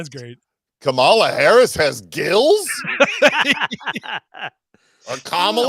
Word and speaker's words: Kamala: Is it still Kamala? I thought it changed somewhere along It's the Kamala. way. Yeah, I remember there's like no stress on any syllable, but yeah, I like it.